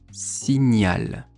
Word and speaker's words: signal: À la fin, ça s'écrit G-N-E-R. Accompagner. On a aussi le mot signal. Signal.